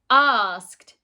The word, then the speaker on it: asked: Now, like looked, it makes a T sound at the end, but we don't write it with a T. We write it with an ED.